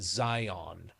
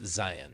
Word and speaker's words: Zion: Like everybody from back east pronounces it Zion. And I'm like, no, Whoa. it's Zion.